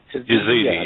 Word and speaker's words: Yazidi: I just don't know how to pronounce that. Yazidi, yeah.